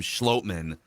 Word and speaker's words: Schlottmann: I guess if the announcers Jim Nantz called him Schlottmann. Yeah, I think if Jim Nantz. Yeah, I would guess that Jim Nantz got the official pronunciation.